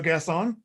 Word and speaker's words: Gasson: pronunciation or last name is it french or is it american pronunciation of your last name french it is so gass on yes on yeah okay